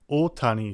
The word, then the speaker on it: Ohtani: places in English where an extended O sound is actually written OH, such as the famous baseball player Ohtani Shohei. While it should actually be two O's side by side, in English we would pronounce that as more of an U sound. So, to make it more phonetically understandable, they put OH instead.